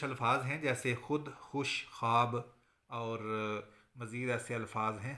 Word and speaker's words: خواب: خوش کا وزن بھی، اسی طرح خواب جو ہے یہ ایک ہجے بلند اور یہ جو ہے ہجے کوتاہ، خے الف خا اور بے، یہ واو جو ہے اس میں شمار نہیں ہوگی۔ خے اور الف مل کر جو ہے ایک ہجے بلند بنائیں گے، اور بے جو ہے یہ ہجے کوتاہ ہوگی۔ یہ واو مادولہ کہلاتی ہے۔ اس کے بعد یہ